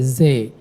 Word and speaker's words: See: The See is the lake. So make sure the pronunciation is not like in the English See, say in German. Okay, See.